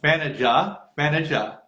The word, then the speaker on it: Thaniath: rehearsal this morning where she was helping me pronounce her name correctly. I still don't think I'm doing it perfectly, but Thanaja.